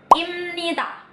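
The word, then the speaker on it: 입니다: Imnida. Kata ini dibacanya imnida. Jadi kalau ada huruf B ketemu sama huruf N, yang di depannya B-nya itu bakalan diganti jadi M.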